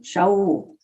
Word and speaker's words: Shaul: Saul, what is it in Hebrew? Shaul.